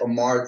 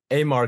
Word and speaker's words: Amar: please welcome Amar yeah I actually like to pronounce it Amar but I don't know my bad no it's cool like Mitch Terrell uh that's a homie uh he uh he pronounces it Omar too on his YouTube reaction videos but yeah I've been meaning to say it's actually Amar so oh God I